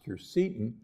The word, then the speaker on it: quercetin: The pith contains large amounts of polyphenols and also phytonutrients, including a compound that you've heard about, quercetin, sometimes pronounced quercetin, that is present in the pith of citrus.